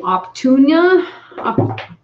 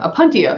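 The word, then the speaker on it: Opuntia: blame them we're growing optunia is that the cactus am i just like looking at that weird up to a pontia a pontia there we go okay i was saying it wrong that's why i'm like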